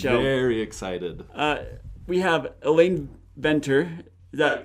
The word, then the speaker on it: Venter: We have Elaine Venter. Is that... It's close enough, yeah. How do you pronounce it? Fenton. What? Fenton. Oh, okay. Pronounce the V like an F.